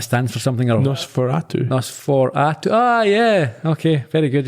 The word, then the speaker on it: NOS4A2: This one here, I'm not sure how to read it or pronounce it. NOS4A2. I imagine that stands for something. Or Nosferatu. Nosferatu.